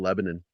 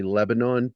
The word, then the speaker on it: Lebanon: I remember it was when we were living in Lebanon, and yeah, normal people say Lebanon, but in Missouri they say Lebanon. That's how they pronounce Lebanon.